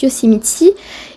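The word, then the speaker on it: Yosemite: est allé à yoséite donc là-bas ça se prononce yosemitti et regardez ce paysage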